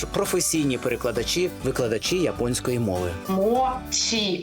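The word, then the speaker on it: もち: перекладачі викладачі японської мови мочій а не Моті тому що в українські після м'яких ми в своїх словах власне вільно вимовляємо це японістка Марія куріна пояснила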